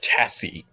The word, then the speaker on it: chassis: Blasted fragging earth elements, freezing my aft off out here for some glorified chassis bulk. Chassis. Bulk. No, just chassis. Chassis. The S is silent.